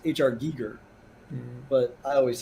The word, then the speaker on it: Giger: It's pronounced HR Giger. But I always say Geiger because that's how I've said it for 30 years.